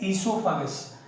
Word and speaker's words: esophagus: O is silent here, and that's why we are pronouncing it as esophagus.